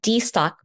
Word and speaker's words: DSTOQ: So many people have been studying a company called D-Stock, which is spelled here, DSTOQ.